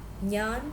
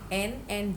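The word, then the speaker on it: ഞാൻ: I have written N and J to represent the sound Nya in Malayalam. It is Nya. Sometimes it may not be so much familiar. So that is Nyan. Nya. I is Nyan. It is not Nan. It is Nyan.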